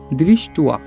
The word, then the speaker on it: দৃষ্ট্বা: আ আছে, এই জন্য এটার উচ্চারণটা আমরা করব দৃষ্টুয়া। উচ্চারণটা হবে দৃষ্টুয়া তু পাণ্ডবা নিকম, অনুস্বার থাকলে ম, তাই হবে পাণ্ডবা নিকম বুয় ঢম।